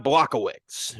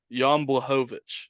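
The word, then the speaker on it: Błachowicz: mess this name up John blockowitz or blachowitz how did I say it right yon blahovich well I'm behovich there it is Yan block a witch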